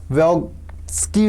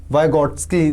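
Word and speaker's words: Vygotsky: ये किसने बोला था, ये आपका लेव व्योग्स्की ने बोला था, क्या प्रोनाउंसिएशन है इसका, वाइगॉट्स्की, जो भी आप कह लीजिए, ये इन्होंने बोला था।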